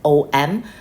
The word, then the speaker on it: Om: is there okay um om a u m om so even though some people spell it as o m the way of pronouncing it is om so like that so